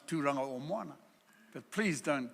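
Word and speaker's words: Tauranga: Tamaki it's not Tamaki I can forgive you if you can't pronounce turana but please don't call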